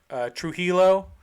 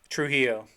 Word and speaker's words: Trujillo: Am I butchering that? You butchered it. Absolutely. Well, how is it pronounced? Robert? I have no idea, but I know you butchered it. Trujillo? Trujillo. That's what it is.